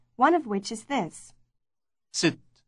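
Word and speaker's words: ست: of which is this sit sit it rhymes with the English word word sit how do you address a married woman sit sit if her name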